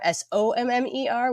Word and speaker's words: Sommer: Sommer, Sommer, which people make fun of me saying it, but it's not spelled like the season, so it's important.